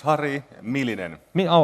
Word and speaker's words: Harri Myllynen: so actually you can do it anyway it's Hari militant mio I said it right that is perfect perfect